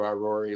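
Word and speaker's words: Irori: r o r i so it's like Ivory but with no no V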